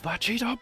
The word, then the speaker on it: Vegito: This is Vegito Blue! You gotta roll your R's at the end there.